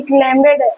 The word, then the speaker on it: climbed: He, जैसे ही train, as the train approach, जैसे ही काफिला पहुंचा, he climbed up into, क्लाइंब, climbed, B silent होता है, बी क्या होता है?